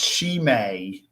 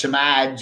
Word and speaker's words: Shimei: It's Shimei. I always said when I first saw her, it's Shimaj. I go Shimud. It took me a while to learn to pronounce her name.